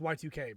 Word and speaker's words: YIIK: try and and uh it's supposed to be pronounced y2k by the way uh but that's not how anybody says it people say yik um it's one of